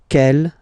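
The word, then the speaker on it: quelle: C l L, but it's pronounced like the masculine form. K at the masculine, kel at the feminine.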